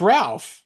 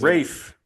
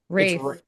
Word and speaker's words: Ralph: It's Ralph. Ralph is Rafe. Rafe. I'm reading R A L P H. What am I saying? That's not how it pronounces it. Rafe.